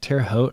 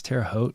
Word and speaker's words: Terre Haute: hey from the hote is that how you say it when it's terre haute i guess terre haute yeah it's the hoat uh do pandas read books